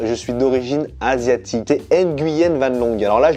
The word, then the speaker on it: Nguyen: Nguyen Van Long. On ne prononce pas le N. C'est comme Hélène, on ne prononce pas le H. On ne dit pas H Hélène.